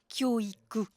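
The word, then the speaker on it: 教育: Ce nouveau concept, se former ensemble, s'écrit avec deux sinogrammes qui se prononcent kyoiku, exactement comme les deux autres sinogrammes qui signifient l'éducation, kyoiku.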